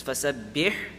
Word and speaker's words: فسبح: It's fasabbih and then there's bihamdi. Now with ha, if you overpronounce it, it's going to start sounding like a kha.